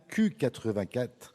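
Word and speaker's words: 1Q84: l'équation africaine, Yasmina Kadra, c'est chez Julliard, un Q84, ou plutôt 1984, puisque en japonais, la lettre Q se prononce comme le chiffre 9.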